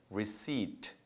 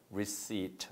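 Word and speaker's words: receipt: 가계에서 샀다는 증빙이 필요합니다 따라서 reat 바람합니다 그 발음할 때 피는 음이기 때문에 reat 한번 따라해 보세요 reat 말을 배울 때 늘 따라할 때는 따라하는게 좋아요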